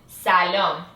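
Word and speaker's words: سلام: in Arabic and Hebrew the way you pronounce it in the Persian way is salom Salam perfect and usually when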